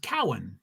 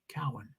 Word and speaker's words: Cohen: say your name wrong my last name is pronounced Cowan just like that Cal Cohen is spelled c-o-h-e-n Cohen Cowan just FYI thanks Fred